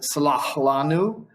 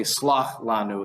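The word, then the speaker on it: סלח לנו: talk about languages, but at one point he says, Salah lanu, but the when he's sort of swallowing it would be common in Arabic and is common in the Middle Eastern pronunciations of Hebrew, but you would just say slach lanu in Ashkenazi. You wouldn't have the sort of swallowy guttural.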